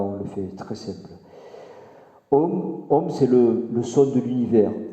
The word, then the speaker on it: Om: Om, c'est le son de l'univers, c'est le son de la création. Om, on écrit OM, mais on pourrait l'écrire AUM, les trois syllabes, les trois lettres de la création.